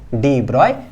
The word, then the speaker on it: de Broglie: ब्रॉय hypothesis क्या कहलाया डिब्रॉय hypothesis pronounced as इनका नाम जो है डिब्रॉय द डिब्रॉय हाइपोथेसिस बोलते हैं ठीक है तो क्या